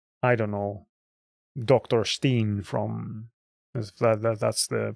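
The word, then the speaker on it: Dr. Stein: Similarly, you can have like music, like I don't know, Dr. Steen from that's the pronunciation of that, from Halloween, and then you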